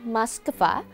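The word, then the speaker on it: Москва: memiliki aturan ejaannya sendiri Sementara di negara asalnya orang Rusia menggunakan maskva meski begitu semua orang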